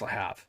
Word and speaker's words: Le Havre: See, I want to pronounce that Havre because there's a town in Montana called Havre that I've been to multiple times. I think it's Le Havre.